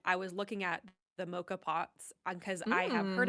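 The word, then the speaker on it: moka pot: Also, I looked up the pronunciation. You're right. It is mocha pot. It's mocha pot.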